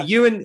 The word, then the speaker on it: Ewen: spotting or train yeah training you're mcgregor no you and brenda yeah you and he you and you and spelled like like the way you've got it spelled